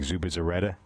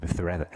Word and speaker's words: Zubizarreta: Yeah, like there was a goalkeeper years ago whose name was like Zubizarreta with Z's, and you turn them into So THs. It's not really how you say it in Spanish. So it's like Zubizarreta.